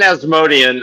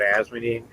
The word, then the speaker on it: Asmodean: I'm sorry, are you saying Asmodean? It's just 3 syllables? Yeah, it's Paula Dean's cousin. Okay. That's how I've always pronounced it. Okay. How dare you, Glenn? There's 4 syllables.